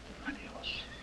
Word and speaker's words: adiós: Adios. Adios. No, adios. Adios is right.